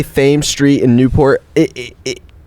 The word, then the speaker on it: Thames: What I do, like when people say Thames Street in Newport, it sounds better as Thames.